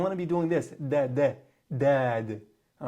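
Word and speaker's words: ضاد: You want to use your whole tongue. Your whole tongue is going to be compressed between your top and bottom molar teeth.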